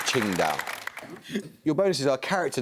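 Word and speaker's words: Qingdao: the angiz one yes that's one possible romaniz I was looking for Ching down your bonuses are character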